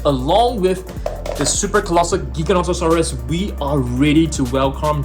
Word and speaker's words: Giganotosaurus: So I think many of you guys actually pronounce this as Giganotosaurus or Gigantosaurus, but it's actually pronounced as Giganotosaurus.